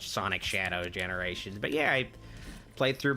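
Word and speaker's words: Sonic X Shadow Generations: I guess it's supposed to be pronounced Sonic Shadow Generations.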